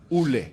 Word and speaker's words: Ole: The name is Oleguna Solskjaer, but pronounced Ule, not Ole.